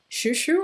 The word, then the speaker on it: Chou Chou: busy art which is Shu Shu I believe the way you pronounce it but the writing is ciaochao I'll put it up